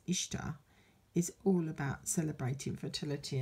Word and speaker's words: Ishtar: Maybe we should be celebrating Mother Earth now, celebrating Ishtar, not Easter. Although they say Ishtar is pronounced Easter.